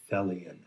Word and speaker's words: Thelion: on the badge that says fellian t-h-e-l-i-o-n and it rhymes with helian and it must be